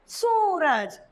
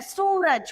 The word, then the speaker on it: सूरज: अब फलस्वरूप हमारा शब्द निकल के आया है सूरज, जिसके उच्चारण में हमने थोड़ा सा लंबा खींचा है। उससे पहले अभी हमने ओ की मात्रा पढ़ी तो उसमें हमने उच्चारण छोटा किया, जैसे पुल, पुल, पुल। अब हम पढ़ रहे हैं बड़े ओ की मात्रा, जिसमें हम देख रहे हैं सूरज को, सूरज। उसका उच्चारण हम थोड़ा सा लंबा खींच रहे हैं।